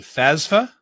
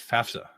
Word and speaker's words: FAFSA: Some people pronounce it FASFA. They're dumb. It's FAFSA.